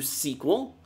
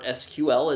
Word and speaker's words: SQL: so moving on to sequel so or SQL as some people really insist it be pronounced a sequel or SQL